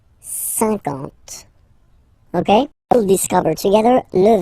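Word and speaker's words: cinquante: Okay, remember that you get this QU, but then you don't pronounce the U. And then you get the nasal un, and then en. 50. 50.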